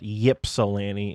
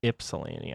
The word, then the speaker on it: Ypsilanti: a little wonky so even though there is a why it's not Ypsilanti it's Ypsilanti I'm pretty sure I